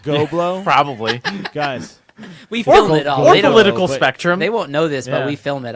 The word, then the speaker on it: GHOBLO: company's GHOBLO, Go Blow. And that's what we'll call it. It'll be very high end, very tasteful. Go blow with GHO.